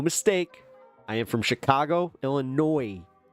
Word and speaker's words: Illinois: Or you could just say it's like pronouncing Illinois with the S. How dare you? There's one thing that y'all can take away from this is that you don't do that. The S is silent.